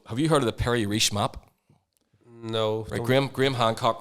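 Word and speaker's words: Piri Reis: r i s that's that's it but it's pronounced Perry re and the pray re map was mapped in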